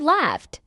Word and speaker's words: laughed: How is the ed ending pronounced in the word laughed? Because the base word laugh ends in a voiceless consonant sound and F sound, the ed ending hardens and is pronounced as a crisp T sound.